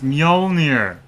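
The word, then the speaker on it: Mjölnir: Oh god, it's still pronounced so terribly. It's Mjolnir.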